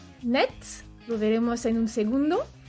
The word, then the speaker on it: net: Entonces, en el caso de net y muet, doblamos la T y podéis escuchar que cuando digo net, la forma masculina suena la T. Eso es muy raro, no es usual.